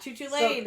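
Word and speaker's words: Cú Chulainn: Does an ancient Irish tales a hero name Cucalon? Because I want to say Choo Choo. Yeah, Chuchu Lane.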